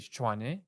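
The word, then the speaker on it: Tshwane: chinese or pretoria like it's fine it's officially chuane but like it doesn't matter people lost their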